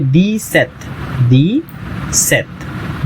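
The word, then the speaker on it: dix-sept: तो इसे प्रोनाउंस करेंगे दी सेथ।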